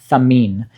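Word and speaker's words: Thamiyn: Well, by Risala, we have Tamin. This one is spelled T-H-A-M-I-Y-N. A bit of peculiar spelling, but it's not English, right? So it's not intuitive to us.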